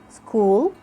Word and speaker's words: school: the h is silent we just ignore it in the ch and we only pronounce the sound of the c like can you say school chemical chemistry mechanic we